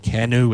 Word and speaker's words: Kenu: with a company called I think it's pronounced kenu it's Ken nuu One n Ken and they have a